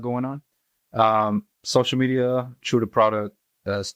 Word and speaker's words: Tru Da Produk: like product but uh that's how you you know pronounce product in French that's how you pronounce